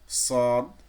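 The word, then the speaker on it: صاد: এখানে আমরা শিখেছিলাম যে জিহ্বার আগা নিচের দুই দাঁতের, নিচের মাড়ির দুই দাঁতের আগা ও পেটের সঙ্গে লাগিয়ে উচ্চারণ করতে হয়। তবে সদ লেটারটার একটু ভিন্নতা রয়েছে। ওই জায়গা থেকে সিন আর জা উচ্চারিত হয়, কিন্তু ওই সদের বেলায় দেখবেন এই যে জিহ্বার মাঝখানটা, এই মাঝখানটা একটু ডাউন, এই যে দেখেন মাঝখানটা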